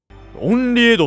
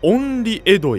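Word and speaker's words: 厭離穢土: なんていうのはコレ厭離穢土って読むらしいです厭離穢土や欣求浄土や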